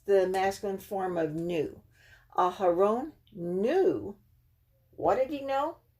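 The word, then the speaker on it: אהרן: So you know how to pronounce this person's name. Okay, Aharon. Aharon.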